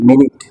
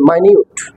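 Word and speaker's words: minute: MINUT, মিনিট, এটা সময়কে বোঝায়, মিনিট। For example, wait a মিনিট, I'm coming. এখানে মিনিট উচ্চারণ, যেটা সময়কে ইন্ডিকেট করে। আবার MINUT, এটা উচ্চারণ হচ্ছে মাইনিউট, মাইনিউট, যেটা খুব অতি সূক্ষ্মকে বোঝায়, অতি ক্ষুদ্র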